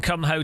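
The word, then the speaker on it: Kumho: I wonder what his view on Cum Ho tyres is. If he's as passionate, and that is how you pronounce it, guys.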